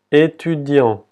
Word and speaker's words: étudiant: Y otra vez la T, la última T no se pronuncia. Étudiant.